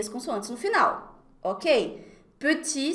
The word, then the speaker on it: petit: Petit se escreve com T no final, mas a gente vai falar petit, não vou pronunciar o T.